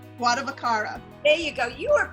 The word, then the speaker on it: Guardavaccaro: Guardavaccaro.